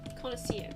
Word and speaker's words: connoisseur: Connoisseur, yep, that's how you pronounce that word.